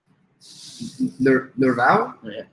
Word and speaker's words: Nervaux: Claire Nervaux. How do you spell that? Nervaux?